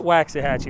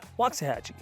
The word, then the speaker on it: Waxahachie: They name stuff and it doesn't sound like it's spelled, and this one's called Waxahachie.